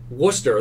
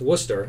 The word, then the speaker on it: Worcester: in as a user and you can type Worcester, the correct pronunciation, and add it to our database. So then from that point on, we know that this is pronounced Worcester, and the next time we do an XPlane